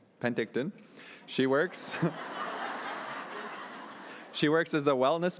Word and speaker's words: Penticton: An Okanagan mother who lives at the Snipington. Okay, Penticton.